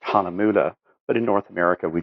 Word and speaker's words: Hahnemühle: the you the oom lot so technically it's pronounced on amudha but in North America we just refer to it as Hana mule give you a bit history Hana mule is